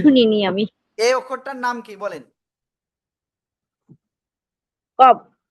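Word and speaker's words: قاف: এই অক্ষরটার নাম কি বলেন? কব। কফ, মোটা আওয়াজে 4 লিপ টানে উচ্চারণ করতে হয়, ঠিক আছে?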